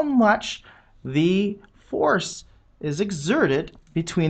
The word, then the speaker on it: mu: This Greek letter, which we phonetically pronounce mu, is a dimensionless coefficient.